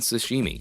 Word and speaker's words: sashimi: but Wayne and dairy keep mispronouncing it omitting the letter H this causes Old Dan to have a panic attack as he attempts to gently repeat it the correct way in his pluralized paradise